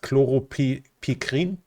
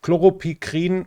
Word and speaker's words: chloropicrin: Chloropicrin, or chloropicrin, I think is then the English pronunciation, is a lung agent that was used in World War II as a chemical weapon.